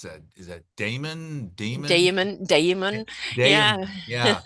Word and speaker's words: daemon: How do you pronounce that? Is that Damon? Damon.